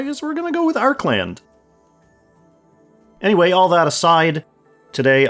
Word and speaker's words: Archeland: Arc land and yes I guess we're going with Arc land the way it's spelled in English with the E after the arch makes it look like it should be archland or archland but I saw some translated stuff directly from the Korean it has that hard